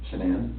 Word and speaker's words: Shanann: And I don't want to pronounce her name wrong, Shanann? Shanann? Shanann, Yep.